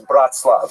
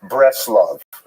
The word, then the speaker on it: Bratslav: And then he made his fame, really in the town known as Bratslav, not to be confused with Bratislava, and it's usually pronounced in Yiddish as Breslov.